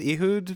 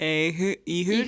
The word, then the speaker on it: Ehud: How are we pronouncing his name? I did Ehud. Ehud? Oh, but Ehud it could be either.